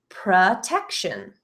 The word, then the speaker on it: protection: However, notice again, the ending T-I-O-N pronounced as a shin in my accent, protection.